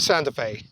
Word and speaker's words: Santa Fe: because it rhymes with beautiful day and santa fe we are in